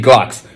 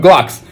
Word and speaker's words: Glucks: way I want it and so I made everybody that sees the character say Glocks don't spell it how you think it is spell it how I'm telling you to say it you know what I'm saying that's exactly how you going to say it so people have to start calling them Glocks you know what I'm